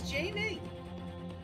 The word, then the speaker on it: GIF: correctly in English but everybody is using the wrong G it's like when you say GIF it's jie the lady is right